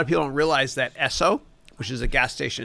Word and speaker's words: Esso: gas station in America, ESSO, it actually used to be part of Standard Oil. And Esso is a play on the letters S and oil, Standard Oil, even though it's spelled ESSO.